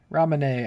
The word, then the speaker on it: Ramune: How to say Ramune? Ramune. It is Ramune.